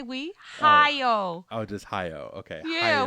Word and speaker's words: Hayao: Whereas The Boy and the Heron is apparently Hayao Miyazaki's last film. What? What? Who is Haoi? You pronounce his name. Hayao. Hayao. No. Why? Did I say we? Hayao.